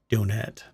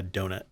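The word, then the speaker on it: Donettes: flavorful a moist donette it has two t's by the way since you're uh you might be listening to this via the podcast later um it's spelled d-o-n-e-t-t-e-s so it is a donet not a donut not a donut it's a donet anyway retailing for 249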